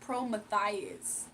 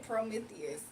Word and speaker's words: Prometheus: that her dog's name was pronounced Promethias. So yeah, I don't think he was in here when that first was discovered on this channel months ago. That's why Gabby and Lily can't get along. Say it right. Prometheus.